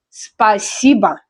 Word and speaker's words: Спасибо: Спасибо, the stress is on I.